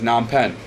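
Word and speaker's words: Phnom Penh: yeah so a true a true guy says nam pen he says panam come down here what's the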